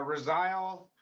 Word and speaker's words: Resile: But uh you it's Rosle just like it's spelled and you'll just have to find the photo with our band name on there.